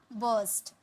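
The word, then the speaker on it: burst: फूट पड़ना यानी कि बर्स्ट, फूट पड़ना बर्स्ट, आर साइलेंट था।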